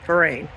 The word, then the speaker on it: Vrain: park St fine and you spell it v r a i n so like a V A V with the word rain after it St F Rin I mean look at